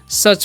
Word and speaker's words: such: लिखा हुआ है SUCH, तो इसे हम क्या पढ़ते हैं, सच पढ़ते हैं। यहाँ पर भी यू का उच्चारण अ होता है।